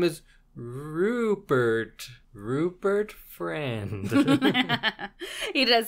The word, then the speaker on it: Friend: was but yeah I it's spelled friend like f r i n d so I'm assuming it's friend that sounds like an